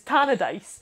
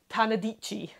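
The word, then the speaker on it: Tannadice: dreams as he refers to it is is tanadice now tanadice is spelled t-a-n-n-a and was once memorably uh pronounced by a football commentator as tanadicci well that's fantastic i'm not entirely sure who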